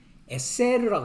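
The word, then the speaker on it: עשר: 열이라는 것은이 두 중인는 12제를 말하는데 열이라는 것은 에셀르라고 합니다.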